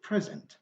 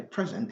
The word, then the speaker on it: present: present and so on so it's forbidden to say present because it is a verb if you say present they become something else present so this is duvall